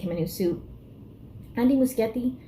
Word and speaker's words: Muschietti: Andy Muschietti. I've been saying his name wrong this whole time. It's not Muschietti. Muschietti. He described it as being more organic.